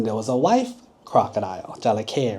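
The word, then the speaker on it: จระเข้: Jalake, right? So there was a husband, jalake, crocodile, and then there was a wife, crocodile, jalake, right?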